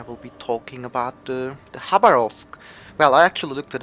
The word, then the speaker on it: Khabarovsk: be talking about the hub arose well I actually looked it up you have to pronounce it that's how about all three you don't pronounce the K so um yeah this